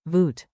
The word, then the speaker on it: Wat: Here, in Wat kos? it means cost. Context is your friend. Pronunciation and rhythm. Say it with me, nice and relaxed. We'll keep it snappy. Break it down. Wat? Like, voot.